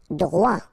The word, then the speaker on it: droit: Droit. So final T not pronounced.